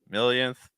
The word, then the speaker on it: millionth: So these words, millionth, billionth, trillionth, they're finishing with that yin sound. The stress is on the first syllable.